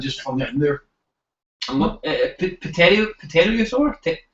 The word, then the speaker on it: pterosaur: Pterosaur? I suppose the P is silent.